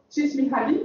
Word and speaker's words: Mihaly Csikszentmihalyi: Csikszentmihalyi, voilà, donc comme ça on a la bonne prononciation.